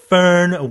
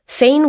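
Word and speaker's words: Foehn: 이 firn winds라고도 하고 Feign winds라고도 하죠. 스펠링도 F-O-E-H-N이라고 쓰기도 하고요. F-O 위에 라고 하나요? 점점 올라가서 이렇게 H-N 이렇게 쓰기도 하는데 스펠링도 두 가지 또 발음도 여러 가지가 존재합니다. 대체적으로는 이제 fern, feign 다 가능한데 이 팬 현상 때문에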